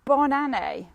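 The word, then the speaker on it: bonne année: pronounce that for banane so it's bond like bon appetit bon appetit bon a like a bon a and then nay like a horse so bon a i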